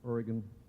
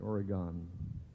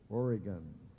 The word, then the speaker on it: Oregon: By the way, that's the way you pronounce it, Oregon. Only foreigners say Oregon, okay? Let's hear it. Oregon.